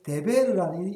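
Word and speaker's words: דֶּבֶר: 말씀인데 데베르라고 이게 다르게 읽으면은 글자는 같아요. 이 모음이 없으니까 데베르라고 읽으면은 그거는 말씀에서 이제 데베르라고 읽으면 역병이 되는 거예요.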